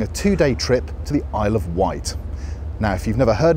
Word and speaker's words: Isle of Wight: So yes, the Isle of Wight rhymes with pile of shite.